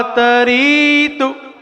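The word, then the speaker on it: तरीतुं: को वा तरीतु, यहां पे ध्यान दें, तू जो है वो छोटा ऊ है, और छोटे ऊ को यदि आपको छोटा बोलना है तो री को लंबा खींच दीजिए, क्योंकि री क्या है?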